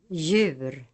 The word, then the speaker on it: djur: The letter J is sometimes preceded by another consonant in the writing system. In such cases, the other letter is always silent. Examples. Jorde. Djur.